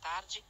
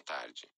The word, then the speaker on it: tarde: I want to pronounce it like a regular English D boa tarde, instead of a gia. Boa tarde, Davi.